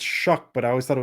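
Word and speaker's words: Shough: So, we're relying on some combination of Spencer Rattler and Tyler Juck. That's not how his name should be pronounced. No, I I've had listened to a thousand times. It's Shuck, but I always thought it was like Shiao Sha.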